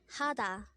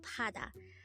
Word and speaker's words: 하다: Hada.